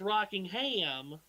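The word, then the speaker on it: Rockingham: Anyway, when we come on the air on Easter weekend, it will be pronounced rocking ham on our end.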